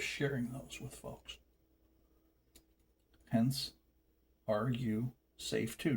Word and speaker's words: Are You Safe Too: Hence, are you safe too? Not Rusafi. The name of the channel is pronounced Are You Safe Too?